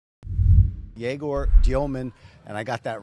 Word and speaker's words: Egor Demin: Here's the number eight pick, Jaor Dyman. Jaor Dyman. And I got that right. Right. That's the correct pronunciation.